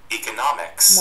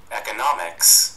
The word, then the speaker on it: economics: Bốn kiểu anh Mỹ và anh nó khác nhau luôn, khác cái chỗ gì? Thứ nhất, hai cái đều có economics và economics bình thường, ý hay é đều đúng. Và cái khác thứ hai, anh thì là nóm, chữ nóm âm o của tiếng Anh nó hơi tròn miệng hơn.